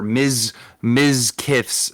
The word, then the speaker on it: Mizkif: Or Mizkif's.